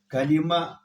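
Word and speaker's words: كَلِمَة: کلمه تلفظ راجح اور فصیح قول، کاف باندې زبر، لام باندې زیر، پر میم زبر، په آخر کې کمره ها، تا په ها باندې بدلیږي.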